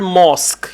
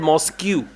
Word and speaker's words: mosque: Okay, and then you mispronounced the word mosque. You said Mosque. Most. Mosque is the right word.